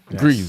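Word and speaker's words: Gris: damn but um yeah grease is a puzzle platformer um g-r-i-s oh agrees yes okay greece greece greece jesus sorry i'm sorry it's pronounced that way it's pronounced that way yes well how is it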